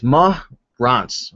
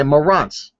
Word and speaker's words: Marantz: All right, homeboy Chris is teaching me how to pronounce his name. So it's Marantz. Okay, Marantz.